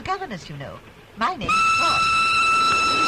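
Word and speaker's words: Froy: My name's Freud. You said Freud? No, Freud. Not even the Freud. I'm sorry, I can't hear. It rhymes with joy.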